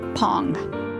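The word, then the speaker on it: phang: yarn now pong yes p-h-a-n-g is pronounced pong now these spindles are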